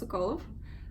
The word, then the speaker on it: Sokolov: Actually it's pronounced Sokolov, and Sokol means a hawk.